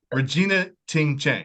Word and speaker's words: Regina Ting Chen: very special episode I have I hope I pronounce this right if I do you can slap me later so Regina Ting Chang is that right yes yes sweet yes who